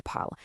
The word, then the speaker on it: parlent: Even though four out of these six forms use distinct spellings with e, e s, and e n, four out of these six forms sound absolutely identical when spoken out loud. You just say the root word parle. Je parle, tu parles, il parle, ils parlent. It is literally one identical phonetic sound.